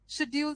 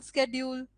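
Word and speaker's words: schedule: So rather rather, शेड्यूल स्केड्यूल, नीदर नाइदर, ईदर आइदर, है ना?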